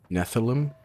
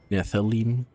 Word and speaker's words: Nephilim: Nephilim?